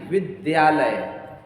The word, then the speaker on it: विद्यालय: है इसका द और शुद्ध उच्चारण क्या होगा विद्या द्या क्या होगा विद्या नहीं ठीक है अधिकांश शिक्षक भी बोलते हैं विद्यालय विद्यालय लय विद्यालय लय नहीं विद्यालय द और य है ठीक है 38 वा